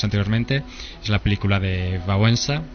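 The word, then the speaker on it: Wałęsa: es la película de vensa o walesa como pronuncian aquí que que todavía sigue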